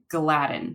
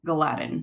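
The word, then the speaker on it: gliadin: proteins that are in gluten are glutenin and gadin and it is also kind of important to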